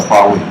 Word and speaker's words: Huawei: uh actually I want to start with our pronunciation I think you know this logo the red logo and we are called the Huawei as you are you